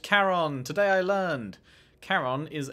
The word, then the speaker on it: Charon: the door is Caron it is pronounced Karen today I learned Karen